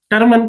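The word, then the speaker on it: Terman: वो बनाया गया लुइस थर्मन के द्वारा। टर्मन कह लो, थर्मन कह लो, LEWES, लुइस, टर्मन कह लो, थर्मन कह लो, जो भी आपकी समझ में आए, प्रोनाउंसिएशन की बात है, लुइस थर्मन ने।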